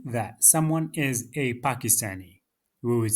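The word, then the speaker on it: باكستان: So some of the Arab countries they cannot pronounce the letter P and they would say Pakistan.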